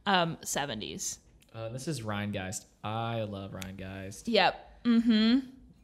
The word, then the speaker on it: Rheingeist: Rheingeist.